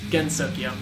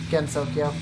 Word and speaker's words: Gensokyo: supposed to pronounce it gensokyo gensokyo yes it's just because it's not a heart there's not a hard G sound Jenny or I guess